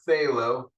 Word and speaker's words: phthalo: which actually stands for phthalo um the pterodactyl P silent p uh plus um quinone